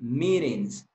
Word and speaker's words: meetings: Meetings. Meetings. Y allí vuelven a hacer lo mismo. La T en medio de dos vocales. Entonces van a decir meetings. Meetings.